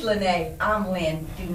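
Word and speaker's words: Lynée: you to my itunes please don't call her lynn even though her because your name is spelled the same as my middle name lynn but everybody wants to say but she's lynnae i'm lynn do not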